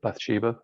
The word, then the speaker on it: Bathsheba: I think he mentioned Possessed, Wally, Adonis, and Bathsheba. Is that pronouncing properly? Bathsheba, yeah.